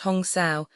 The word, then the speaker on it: Hamsa: Hamsa, pronounced Hong Sao, are two sacred Sanskrit chant words possessing a vibratory connection with the incoming and outgoing breath.